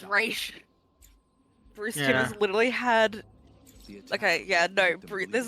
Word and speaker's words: Ra's: Did not get, but he did pronounce it Ra's al Ghul. I need to track him down and It's Raish.